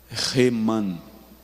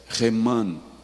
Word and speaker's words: Heman: E eu quero falar um pouco sobre um camarada chamado Heman. Na nossa língua, na nossa tradução, está escrito Eman, mas a pronúncia é Heman.